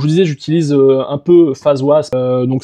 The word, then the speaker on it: FazWaz: Comme je vous disais, j'utilise un peu face was. Donc ça s'écrit comme ça se prononce.